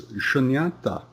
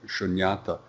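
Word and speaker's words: śūnyatā: The next term is shunyata. It's pronounced the same in both Pali and Sanskrit, just spelled a little differently.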